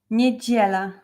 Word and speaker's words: Niedziela: I know it's hard to pronounce like sound G, but try to concentrate like G. Niedziela.